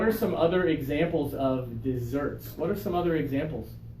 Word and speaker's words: dessert: that is dessert okay for this one we're going to put a little accent mark out here because we want the second syllable to be extra strong okay dessert okay dessert is delicious